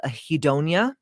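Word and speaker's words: anhedonia: This could be uh there's a word called a hedonia. It's spelled h a n h e d o n i a.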